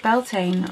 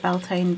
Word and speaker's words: Beltane: What did you do for Beltane? Or I know not everyone pronounces it Beltane, but it's just how I've always pronounced it.